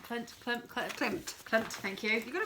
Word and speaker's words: Klimt: Klimt, thank you.